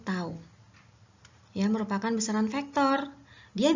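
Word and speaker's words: τ: Ini dibacanya tau.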